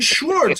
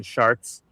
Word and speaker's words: Schwarz: You know how many times in my life my last name has been mispronounced as Schwartz?